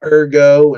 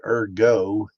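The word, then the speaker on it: ergot: I don't want to sound like an idiot because I've always called it erggo, but it might actually be pronounced urgot.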